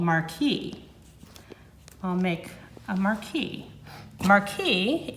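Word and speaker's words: marquis: And that is called a marquee, and it's spelled M-A-R-Q-U-I-S.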